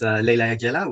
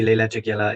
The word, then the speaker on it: Leyla Jagiella: that's fine as well it isn't even the original pronunciation of my family name anyways because it's actually it's a polish name and the original pronunciation